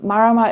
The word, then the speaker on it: Marama: in that band yes marama trio people often struggle to pronounce it mara matrio marama is a word from the maori language and it means moon and how did how